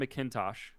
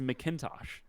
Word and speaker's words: McIntosh: You say Mick. You don't say Mac.